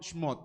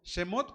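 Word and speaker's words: שמות: Lo correcto se pronunciaría como Shmot. ¿De acuerdo? Shmot. Shmot. ¿De acuerdo? Shemot podría ser correcto, pero es más correcto Shmot.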